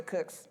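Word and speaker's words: Cooke: i took it from the sam of the cooks i didn't take it from you know it's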